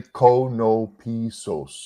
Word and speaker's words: Konopisos: Yeah, you can say it Konopisos, or the traditional way is Konopisos, but we use either way. I assume that's a Greek origin. Is that right? Yeah. Okay. Say it one more time. The true way. Just phonetically, Konopisos.